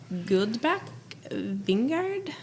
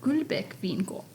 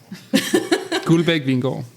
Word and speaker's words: Guldbæk Vingård: I know I'm going to butcher the name, but Guldbach Vineyard. And now Sarah's turn. Now my turn, and then the Danish turn. I would call it Guldbæk Vingård. So would I. Guldbæk Vingård.